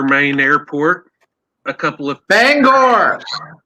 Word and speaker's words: Bangor: Yeah, I actually was got to see the Bangor, Maine airport a couple of Bangor. No, it's Bangor, Maine's airport. That's the only time we say an R.